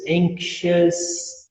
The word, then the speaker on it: anxious: Anxious. E todas se escrevem com O-U-S e tu nunca pronuncia o O. Sempre só o us.